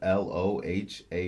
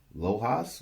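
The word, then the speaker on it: Lohaus: center and Brad loha I think that's how you pronounce his last name l o h a u s loas loha he was a power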